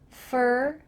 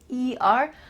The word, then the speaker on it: for: a designer I work fur we're using that same pronunciation again fer I work for the marketing department make sure that if you use this reduction fur you're speaking a little bit quickly you're linking things together